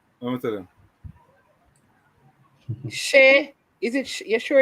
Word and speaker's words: Che: How you spell that name? Let me tell you. Shea.